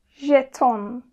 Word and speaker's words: jeton: Bu harfimiz İngilizce'deki gibi C olarak telaffuz edilmiyor. Bu harfimiz J. Yani İngilizce'de bunun gibi örneğimiz şu şekilde. Measure. Measure. Buradaki ses aynı. J. İkisi de aynı ses. Yani measure, jeton, j. Aynı ses.